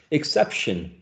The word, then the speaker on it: exception: Exception. Like everybody's going to the field trip, except exception. It's k and s.